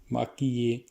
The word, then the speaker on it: maquiller: अब है maquiller, ER का वर्ब है, ठीक है, और आपको पता है कि डबल एल साइलेंट होता है जब आई और ई में